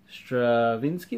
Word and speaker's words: Stravinsky: Stravinsky, that's how you say it.